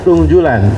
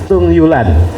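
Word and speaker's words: Thung Ju Lan: Nah, dibacanya memang Tung Julan, tetapi karena orangnya manis, jadi kita sebut Tung Yulan.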